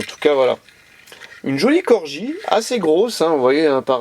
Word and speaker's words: Corgi: une petite Mercedes 180 Corgi corps alors là on peut pas le louper alors c'est Corgi c'est pas Gorgi comme beaucoup le prononce là on voit bien